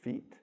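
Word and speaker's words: Fiet: The Sacred Pulse is another good one by April, I think it's Fiat, F-I-E. The I and the E makes it a long E sound, so it's feet.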